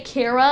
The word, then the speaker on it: Chara: or kara or whatever i gotta say kara as in character because that's probably how it's canonically pronounced anyways because like like this